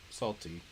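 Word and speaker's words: Nacli: I call him Salty. N-A-C-L is salt. I makes it E. Salty.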